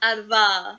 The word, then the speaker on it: Adva: Adva. Okay, so I'll give you a shortcut to how you say my name properly. Think about the word advanced, but in a British accent.